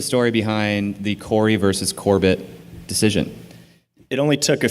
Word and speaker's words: Corbett: Best friends call me Corbett. How did people mispronounce Corbett? Did you get Corbet? You get silent T's sometimes. Corbett is like a pretty, it's just confusing.